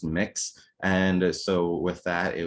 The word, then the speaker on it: Mx: commonly hear folks use is mx pronounced mix and so with that